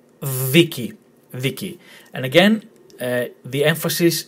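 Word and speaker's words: δίκη: If the tone was on the second syllable, the pronunciation would not have been viki, it would have been viki. Okay? But this is viki, which in Greek means trial.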